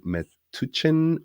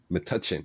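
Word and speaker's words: Metuchen: professionals Pippin resides in met tuin New Jersey I'm sure I didn't pronounce that correctly how that pronoun matachin oh that wasn't so bad okay with his family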